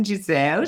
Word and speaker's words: Jezelle: Welcome to the podcast, Jazelle.